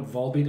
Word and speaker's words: Volbeat: B were they from their finish 100 bins pronounce the vase they call it vol beat on stage okay so we'll repeat and I